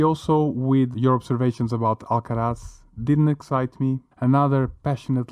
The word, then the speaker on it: Alcaraz: you can see um alcaraz is that that you pronounce alcaraz exactly yeah he did a